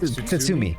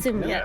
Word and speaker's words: Tsutsumi: It's like Tatsumi. Tsutsumi. Wait, Tsutsumi. Tsutsumi? What? Yep. Tatsumi. Tsutsumi. Yeah, that's it.